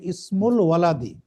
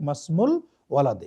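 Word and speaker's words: اسم الولد: মানে হামজাটা এখানে উচ্চারিত হবে, মানে ইসমুল ওয়ালাদি এভাবে বলবেন। কিন্তু যখন তার পূর্বে কোনো শব্দ আসছে, বাক্যের মাঝখানে চলে যাচ্ছে, তখন ওই হামজাটা উচ্চারণ না হয়ে ওটা তার পরবর্তী অক্ষরটা, যেমন মাসমু, মা ইসমু না, কিন্তু আমরা বলবো ডাইরেক্ট মাসমুল ওয়ালাদি।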